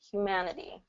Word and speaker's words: humanity: d humanity and then we also have that again that tap t thing you can say Humanity that's just fine but um a lot of native speakers are going to change that t to a d pronunciation because of the vowels that surround it so that's that tap t rule when a t is surrounded by vowels a lot of times native speakers use a d okay so say that